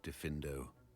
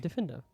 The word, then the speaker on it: Diffindo: Now, let's see how you fare with Diffindo. Oh, I did say it right. Diffindo.